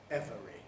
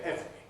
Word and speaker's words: every: but to be honest we always say this word as two syllables nobody normally says every we say every so quite rightly most